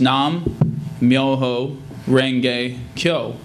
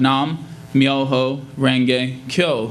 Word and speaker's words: Nam Myoho Renge Kyo: As SGI Buddhists, our prayer is chanting the words Nam, Myoho, Renge, Kyo.